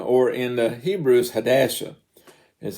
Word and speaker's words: Hadassah: that is Ezra, or in the Hebrew is Hadassah, is how you pronounce the name.